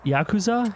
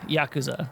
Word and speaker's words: Yakuza: so much in there Yakuza yeah it's very Western of you ouch ouch well it's the way that we stress syllables versus the way that like the Japanese language just doesn't stress any syllables generally that's true